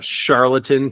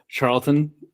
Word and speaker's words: Charlton: yeah something 70 I can't remember I looked charlatan comic it looks like Charlton Charlton Charlton comic yeah charl Charlton yeah the